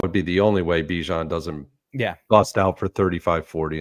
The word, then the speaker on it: Bijan: And by the way, he does say it is pronounced Bijan.